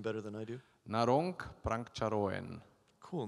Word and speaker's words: Narong Prangcharoen: Naron Pranko. Cool name. Naron Prancharoan.